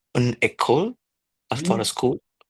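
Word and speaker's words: école: Uh can you please pronounce again for the feminine singular? Yes. So it's echole after a school.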